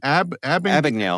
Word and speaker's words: Abagnale: Abagnale. Abagnale.